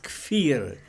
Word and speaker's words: Kfir: but to pronounce it, the name is Kfir.